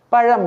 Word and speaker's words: பழம்: அது தப்பு குழந்தை குழந்தை பழம் சாப்பிடக்கூடிய அந்த பழம் அதை கூட பழம் என்று சொல்லுகின்றார்கள் பழம் என்று சொல்லக்கூடாது பழம் என்றுதான் சொல்ல வேண்டும் இந்த ழ போட்டுத்தான் எழுத வேண்டும் இவ்வாறு யாவில்தான் அதிகமான பிழைகளை